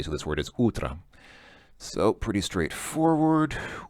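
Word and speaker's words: утро: would be UT but because the O is not stressed it's pronounced more like an A so this word is utra so pretty straightforward o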